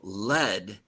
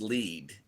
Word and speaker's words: lead: This one can be pronounced two ways. Sometimes it's a kind of metal. Lead. Right. Well, lead. Let's. And if it means to go first, it's lead.